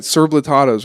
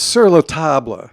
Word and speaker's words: Sur La Table: It's sur la table. Sur la table. You just let me say it wrong the whole time? No, I didn't think you'd been saying it wrong.